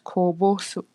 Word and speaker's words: こぼす: So it means it is pronounced as kobosu.